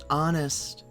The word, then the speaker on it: honest: Honest. H is silent.